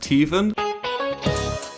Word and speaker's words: Theevan: So I put it through Google Translate and it says it's Hindi, pronounced Theevan. I thought it was just like pronounced like how you'd say Steven if you had a lisp.